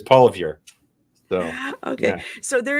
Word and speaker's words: Poilievre: But Poilievre? Yes, very well done. Yes. Anglicized. Yeah, anglicized. It's Poilievre.